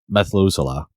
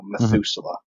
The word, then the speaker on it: Methuselah: name for him go ahead what's the name Methuselah oh that's awesome methusa is that yeah that's how you say his name right Noah's grandfather Yeah I think so I think so Methuselah I'm pretty sure that's how you say it